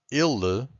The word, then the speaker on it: ele: So I'm gonna tell you that ele, the first one, this e, it's a bit more close, so we say e.